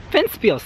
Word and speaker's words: Ventspils: Ventspils, that's how you say it.